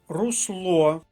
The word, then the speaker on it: русло: складі третя колонка агрономія русло другий склад друга колонка Зверніть увагу на